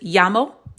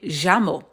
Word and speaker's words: llamo: Some people will look at this word, but depending on who the native speaker is and what country they're from, they could pronounce this llamo. But then some, like from Argentina and Uruguay, they may say llamo. So sometimes it can sound like Y, and then other times